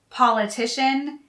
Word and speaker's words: politician: three related words politics politician and political notice two things politics always has an s at the end second politics and politician have the stress on the first syllable and political has the